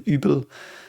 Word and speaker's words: Übel: It again is pronounced Übel with a U with a Fleischitz again, Übel.